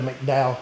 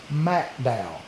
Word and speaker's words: McDowell: I was going to Mcdow Kentucky and um they immediately told me it's not McDow, Kentucky, it is Macdow.